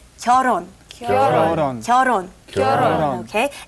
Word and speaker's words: 결혼: this stage, which is 결혼. 결혼. And it's written 결, but you don't pronounce 결. Okay, you take the L and put it on top of the H in 혼 and say 결혼.